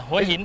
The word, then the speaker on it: Hua Hin: Is that the right pronunciation? I'm with Mel. Is that right, Mel? Yeah, no. Hua Hin. Hua Hin? Yeah, yes.